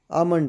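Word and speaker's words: almond: है ठंड में आपका आमंड है इसमें एल साइलेंट है एल है ठीक है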